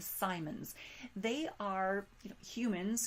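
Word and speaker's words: Psimons: We also have individuals called Simons, and that is spelled with a P, P-S-I-M-O-N-S, the Simons.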